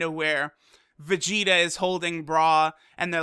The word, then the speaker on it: Bra: say cell or Vegeta like the way RS and L's and work in Japanese it's clearly supposed to be bra because you look at